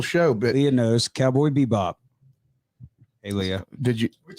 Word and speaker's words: Bebop: Am I saying it wrong, Garrett? It's like Cowboy Bebop.